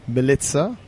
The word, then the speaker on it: Milica: This is episode 213 of the InnerFight podcast with Milica Bursac, a friend of mine, long-term Inner Talks number 3 or number 4 speaker. I have to pronounce her name properly. Milica, welcome to the show.